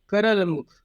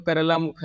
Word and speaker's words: करलमुख: ऐसे इंग्लिश में पढ़े तो करला मुखा लिखा हुआ है, लेकिन इसका नाम हिंदी में होगा करलमुख। सही जो इसका अगर आप प्रोनाउंसिएशन हिंदी में करेंगे तो ये करलमुख होगा।